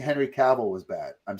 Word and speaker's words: Cavill: Cavill rhymes with travel.